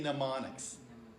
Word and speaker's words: mnemonics: using your imagination um remember on this word the m is silent to say mnemonics mnemonics right so that's so